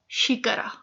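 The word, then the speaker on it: xícara: First lesson में कि एक्स जो है वो शीज का साउंड प्रोड्यूस करता है, शीज, एक्स को कहते हैं शीज। सो ये जो है ये शिकारा, ए उमा शिकारा।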